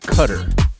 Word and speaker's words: Qatar: yeah q-a-t-a-rs is the spelling yeah but he pronounce it cutter okay right on you never know what you're